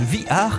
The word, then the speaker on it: VR: appris sur le prestation bihar le casque de réalité virtuelle playstation oui oui ça se prononce vihar et pavés r ça